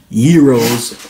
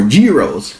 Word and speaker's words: gyros: it wrong because everyone always complains about i pronounced gyros i cannot win it's gyros euros or giros i've heard so many different pronunciations i'm gonna go with gyros i'm sorry that's just the standard here in